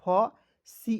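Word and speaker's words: face: एफ का हो जाएगा फ, सी ई का उच्चारण दोस्तों स के रूप में करेंगे, हो जाएगा फेस, ठीक है ना।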